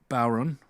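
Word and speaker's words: bodhrán: gotten into using the baron it's apparently the way to pronounce it is Sauron but with a B nice poweron um uh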